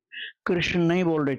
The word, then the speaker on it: कृष्ण: कृष्ण की जगह कृष्ण, जैसे आपने ण क्यों न बोला, या कृष्ण कृष्ण कहा, या किशन कहा, तो उसमें कोई भी कमी नहीं आएगी, क्योंकि आपको ये नाम मान करके जपना है, मंत्र मान के नहीं।